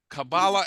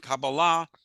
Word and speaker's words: Kabbalah: And Kabbalah is the Sephardic way of pronouncing it, like Shabbat or Talit.